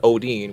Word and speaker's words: Odhinn: Odhinn, which, by the way, is the correct pronunciation.